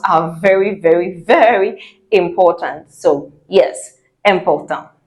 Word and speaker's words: important: And then another word which you know very well but pronounced wrongly because of English, important. Important.